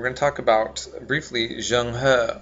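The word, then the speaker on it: Zheng He: And then here especially, we're going to talk about briefly Jang Ha or Jenghi as some people pronounce it.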